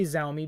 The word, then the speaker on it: Xiaomi: and cannot pronounce and i'm not going to use a specifically chinese word and accent to say xaomi we're just going to say xaomi because it is the most internationally accepted way to say xaomi i